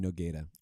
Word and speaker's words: Noguera: You have to pronounce her name Noguera, otherwise she's gonna be mad.